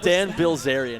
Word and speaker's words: Bilzerian: uh dan bill zeren the dan bilzerian is how that's pronounced it's dan bilzerian uh which says i'm